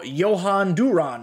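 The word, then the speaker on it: Jhoan Durán: uh henchmen clay holmes nasty sinker tops now johann duran i've learned is how you say his name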